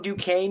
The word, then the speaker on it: Duquesne: welcome Anthony Joseph and I I hope I'm pronouncing this correctly. Lucini. Um Lucini. Lucini. Thank you very much. Um, also from Dukane University, uh, which I have learned once again